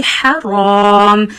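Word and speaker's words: حرام: So Haram ha is pronounced from the middle of your throat. So read it very softly. Haram.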